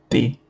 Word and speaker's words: te: The past of be is te. Te. Okay? You can pronounce it te. It's like you're saying Taylor, but you don't say the le.